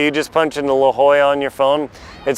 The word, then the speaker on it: La Jolla: me on this one it looks like De La Jolla it's not it's La Jolla now also there's a